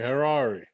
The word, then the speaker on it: Harari: pronouncing it correctly yep just rhymes with ferrari okay herrari okay mark welcome to